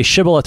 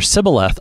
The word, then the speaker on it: Shibboleth: And whether you say Shibboleth or Sibboleth, among the people of Israel who all confess Yahweh as the one true God, Shibboleth, Sibboleth shouldn't make a difference.